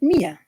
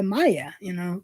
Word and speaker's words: Mia: I usually tell people if you want to say my name correctly, say me and then A, and you have Mia. Yeah, I know, Leanne, but some people because they see the I and they go, yeah, Maya, because we say the I differently.